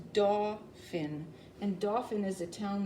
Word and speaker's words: Dauphin: It's not Dolphin, it's Dauphin.